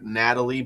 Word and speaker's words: Nathalie: Nathalie Baye is pronounced Natalie Baye. Okay, that works.